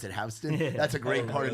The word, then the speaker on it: Houston: It's looks like Houston, but they pronounce it Hston.